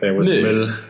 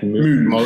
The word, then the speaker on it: MØL: I think the French usually get pretty close with Mill. Yeah. But I think, Moll is perfectly acceptable.